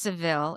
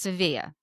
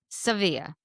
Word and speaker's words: Sevilla: But we have now learned that it is not pronounced Seville. If you are from Spain, which Alexia is from Spain, well, she's spent many years in Spain, it's pronounced Sevilla. Sevilla.